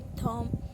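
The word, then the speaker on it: thumb: Second है थम, तो बी साइलेंट है।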